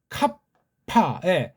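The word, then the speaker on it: κάππα: 이오타, 카파, 카프파잖아요. 카파, 캅에서 한번 입을 꽉 물고 파에서 또 한번 물고, 물론 뒤에 파는 부드럽죠. 카파, 이렇게 알파 하듯이.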